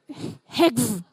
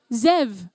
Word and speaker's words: Xev: have got 69 36a heg heg have I said it correctly have I pronounced it xev oh so not EG are you sure you don't want to go with eg Zev Zev oh I see my